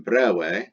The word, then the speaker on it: breve: masculine feminine, and then brawe, that's the neuter. So you chop off either the is of the masculine feminine form or this letter E pronounced A from the neuter form brawe.